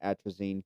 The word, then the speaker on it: atrazine: Atrazine.